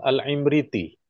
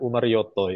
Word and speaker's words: Imriti: meramu nadam namanya Imam alimriti orang Jawa membacanya umaroto itu ya jadi tulisannya kan imriti itu karena dibaca dikira ulama dari Jawa Nazam umaroto begitu dulu kemudian disyarah oleh seorang